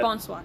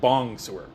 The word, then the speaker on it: bonsoir: I can't believe I pronounced that correctly. But you know what? Well if done. I mispronounced it, I wouldn't have said bong-sewer. Okay? Would not have pronounced it that horribly. No, not bong sewer. Bong-sewer. Bong sewer. Like, yeah, I'm not even... So close and yet so far. So far.